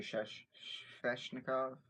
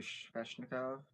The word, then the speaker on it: Sveshnikov: after a guy like Rasmus Dahlin or Andrei Sveshnikov. Saying his name wrong. I have his name right in front of me, so I can't read it. Andrei Sveshnikov, and I want this for as many reasons.